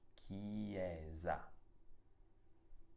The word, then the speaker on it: chiesa: Andiamo avanti e troviamo una parola nella quale la C ha un suono duro perché è seguita da una consonante, in questo caso dalla H. Per questo dobbiamo leggere questa parola chiesa con la S che ha un suono debole, ti ricordo, perché si trova tra due vocali, la E e la A.